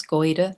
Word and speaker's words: Goyder: My last name is G O Y D E R. Goida. Just said as it's spelled.